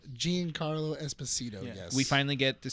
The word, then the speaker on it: Giancarlo Esposito: How do you pronounce his name? Giancarlo Esposito. Giancarlo Esposito.